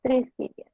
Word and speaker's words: tristitia: La T siempre tenía sonido de T. Tristitia se dice tristitia, tristeza.